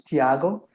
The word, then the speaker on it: Thiago: o'clock here um yes the pronunciation is perfect it's thiago and i'm a phd